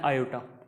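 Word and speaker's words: iota: ध्यान रखना आयोटा, इसको आई को हमेशा प्रोनाउंस करना है आयोटा, आयोटा बोलना है आई को।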